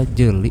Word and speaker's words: Jeli: Jeli apa? Jeli sih dibacanya.